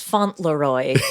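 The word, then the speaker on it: Fauntleroy: more full to wrong no it's font leroy that's how it's spelled in his case it's false um i'll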